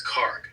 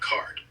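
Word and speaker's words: Kharg: Note, it's Karg, not card.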